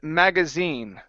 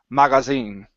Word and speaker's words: magazine: of your mouth Maga magazine okay instead of Maga it's mag mag magazine mag magazine magazine push the sound forward push the sound forward in your mouth okay magazine okay okay